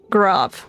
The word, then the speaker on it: Gaurav: Grav. Okay, that's how you say his name.